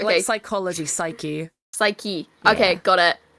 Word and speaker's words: Psyche: Yeah, it's It's Psyche pronounced and bitch boy.